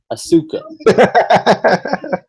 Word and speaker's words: Asuka: have to say this Kurt Angle pronounced Oscars name the same way that I do so I think that that means that I'm saying it right asuka yes so obviously needs